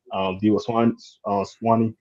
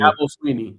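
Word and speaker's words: Dabo Swinney: Debo Swanee. I think I say his name right. I'll be messing up people's names. Sweeney. Sweeney. Sorry, Sweeney. Debo Sweeney. Dabo Sweeney.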